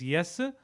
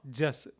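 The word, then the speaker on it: जस: Again, J and Y can interchange, so it is yes or jas. Both are fine.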